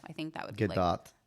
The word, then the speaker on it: Gadot: I think that would be Gadot. Gadot.